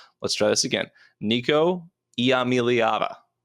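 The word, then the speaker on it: Nico Iamaleava: quarterbacks in the nation in red shirt freshman Nico yam let's try this again Nico yava Nico yava that's how you say his name I've said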